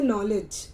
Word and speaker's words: knowledge: अंग्रेजी में ज्यादातर, जैसे नॉलेज एक ऐसा वर्ड है जिसको हमने बोला नॉलेज, न से हमने प्रोनाउंस किया, सामने वाले को नॉलेज सुनाई दिया। अब वो लिखेगा क्या, KNOWLEDGE, ये नॉलेज की स्पेलिंग है। लेकिन हमने बोला क्या, और